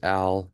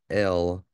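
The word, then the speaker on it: אַל: So this is Al, like we'd say Al Bundy, right? But this is Al, not El, in pronunciation.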